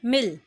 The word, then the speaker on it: मिल: लेकिन सही प्रोनाउंसिएशन इसकी कैसे होगी, जो छोटी ई की मात्रा है वो बनेगी मिल। ठीक है, मिल।